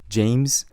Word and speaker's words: 제임스: So people will be like, oh, James. Do you see the emphasis on the im? Instead of James, it's James, James.